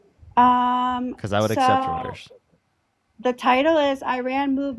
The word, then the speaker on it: Reuters: Reuters. Yeah. What? What's the title? Um, because I would accept Reuters.